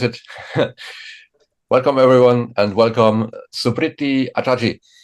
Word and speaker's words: Suprity: hear how you pronounce it oh well you pronounce it pretty well it's supriti AAR yeah and you're still 20 is that